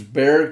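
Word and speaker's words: Bexar: right now, is suing Bear Bear County for funding illegal alien deportation defense. Okay. Uh Bear County, if you didn't know, it's spelled B X A R.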